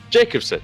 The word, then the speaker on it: Jacobson: the pronunciation is Jacobson.